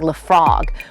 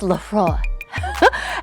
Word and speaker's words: Laphroaig: number six for me I remember trying the froy I think that's how you say it look for it it looks like 'la frog but it's Laphroaig and it's a scotch